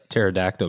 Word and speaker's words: pterodactyl: Why can't you hear a pterodactyl go to the bathroom? The pee is silent. Okay.